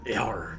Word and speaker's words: Jar: Yeah, so it's pronounced in here, Yar. But, I mean, in like, simple, like, fucking... English terms, but if you want to like roll the R's and say with an accent, it's different.